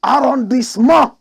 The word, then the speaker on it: arrondissement: We French people, we pronounce it the right way. 16th arrondissement of Paris.